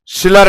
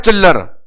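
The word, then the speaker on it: Schiller: दिया आप लोगों ने सिलर टेस्ट। इसको एक बार पढ़ना थोड़ा इंटरेस्ट लगेगा एस को साइलेंट करके। एस साइलेंट कर दे तो नालायक का नाम आता है चिल्लर।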